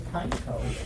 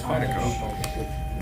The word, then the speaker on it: Pineco: No, it's Pineco. You guys talking about finding out? Yeah. Just attack with my Pineco. The official pronunciation is Pineco.